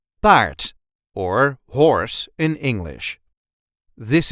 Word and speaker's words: paard: a regular Dutch accent Bart or horse in English this is the way we say Bart b part yes there is an r in it but you don't really have to roll that R you can if you